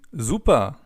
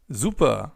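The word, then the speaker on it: super: Another way to answer this question is by simply saying zupa. Zuper, which means great or awesome.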